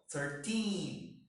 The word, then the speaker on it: thirteen: do that for example for the teens the stress is in the syllable teen so thirteen team is number thirteen fourteen fifteen okay for this one the stress is on the first syllable thirty thirty forty fifty